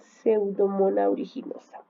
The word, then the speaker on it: Pseudomonas aeruginosa: Se escribe así como ustedes ven aquí, pero se pronuncia Pseudomonas aeruginosa.